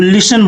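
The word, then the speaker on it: listen: में क्या बोलेंगे तो लिसन बोलेंगे एल आई एस टी इ एन यहां पे टी साइलेंट होता है इसको लिसन बोलेंगे लिसन ठीक है सुनो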